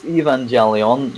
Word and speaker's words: Evangelion: It is Evangelion, yes, that thing that yes, that thing. Yeah, that's how it's pronounced.